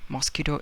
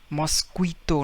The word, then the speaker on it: mosquito: Now we don't pronounce it as mosquito. No, mosquito. No, U is silent. We say instead mosquito. Just mosquito. You just forget U.